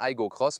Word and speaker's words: Aygo X: Et on dit bien Igo Cross, même si c'est écrit Igo X. Alors que pour la Corolla Cross, c'est vraiment marqué Corolla Cross. Oui, on le prononce toujours Igo Goo Cross, c'est comme ça.